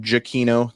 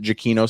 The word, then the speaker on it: Giacchino: you were stoked for Michael giacchino jokino the man himself pronounces it jokino so that's what we're gonna go with um what did you